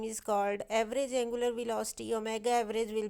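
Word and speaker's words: omega: Angular velocity को हम ओमेगा से रिप्रेजेंट करते हैं। ये जो स्मॉल w टाइप सिंबल है इसे हम ओमेगा प्रोनाउंस करते हैं।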